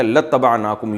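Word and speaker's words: لَاتَّبَعْنَاكُمْ: असल में था इबाना तो हम इत्तबा करते तुम्हारी लाम ताकीद के लिए तो अलिफ साइलेंट हो गया। लतनाकुम यू पढ़ा जाता है इसको।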